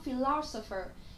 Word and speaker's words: philosopher: Philosopher. Philosopher thì nó sẽ là trọng âm mấy? Trọng âm 2, danh từ, đúng không ạ?